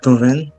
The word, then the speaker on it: Tovin: Allô, est-ce que c'est Tovin? Est-ce que je prononce bien votre prénom? Oui, mon nom, c'est Tovin.